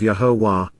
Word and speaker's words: Yahowah: generosity you are offering, Yahowah, Yahowah, the proper pronunciation of Yahowah, our Eloah, God as directed in his Torah,